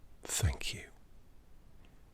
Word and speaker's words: thank you: Thank you. Thank you. Get the tongue on the top teeth.